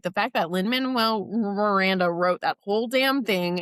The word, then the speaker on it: Lin-Manuel Miranda: Miranda?